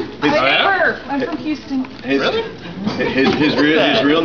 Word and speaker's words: Houston: He's such a Texan that he doesn't even pronounce the H in Houston. He doesn't. Yeah. He's from Houston.